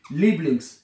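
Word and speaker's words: Lieblings: याद होगा आपको कि जहां पर आई इकट्ठा आएगा ना उसको इंग्लिश में इ की तरह प्रोनाउंस करते हैं। जैसे आई इकट्ठा ये इ बन जाएगा। इ लिबलिंग्स हैं।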